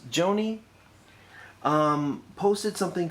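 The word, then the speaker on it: Gjoni: hers named aaron joni the last name is spelled g-j-o-n-i so i'm assuming or presuming that it's joanie um posted something called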